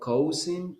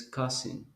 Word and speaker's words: cousin: Then the pronunciation is not cousin, it is cousin.